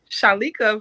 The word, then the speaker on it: Chalikia: My name is Chalikia. Oh, Chalikia, not Likia. Chalikia. Chalikia. Chalikia, yes. Chalikia. Gotcha. Yes. The I is silent.